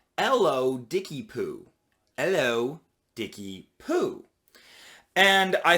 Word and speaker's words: ellodickypoo: of people had difficulty with it it was pronounced ello dickie poo hello dicky poo and i thought it was